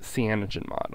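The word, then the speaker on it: CyanogenMod: the most common thing people do is install Cogen mod on it uh Cogen mod is spelled uh spelled like this uh c y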